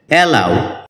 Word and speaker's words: allow: এলাও এটাকে আমরা এলো বলে থাকি যার সঠিক উচ্চারণ হচ্ছে এলাও শব্দটি ভার্বের ট্রান্জিটিভ এবং